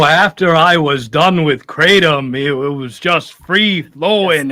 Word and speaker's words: Kratom: Kratom? Yep. After getting off the Kratom, he was shooting loads everywhere or all over the room. Oh, yeah. You know, after I was done with Kratom, it was just free flowing everywhere.